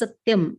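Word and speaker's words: सत्यम्: And that is Satyam, Sa Ityam, Satyam. 3 syllables are there.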